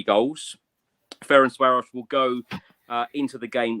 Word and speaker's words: Ferencváros: What I know is that it's pronounced Ferencváros.